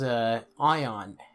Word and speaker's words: Aion: oh there's a quest this game is I on what do you want and it's spelled AI o n I've got so many